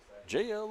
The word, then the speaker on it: Jeheil: I went up to talk to them, and they said it's spelled like this, but just say JL. JL. Just say JL, and you'll say it correctly.